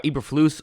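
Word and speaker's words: Eberflus: think is a bad head coach necessarily Matt eberfuss is going to be here at uh eberfloose I believe it's how you say it actually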